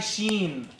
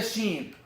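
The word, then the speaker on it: ش: So the sheen is pronounced like this. Listen. Ash. Am I touching the roof of the mouth with the middle part of the tongue? Is it touching? Ash. Is it touching? No. This is why I don't say I touch, because this letter is not pronounced by touching in the first place.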